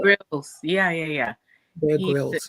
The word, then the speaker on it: Grylls: don't know how to pronounce this bear. Is it Grylls? Oh, Bear Gyrl? Grylls.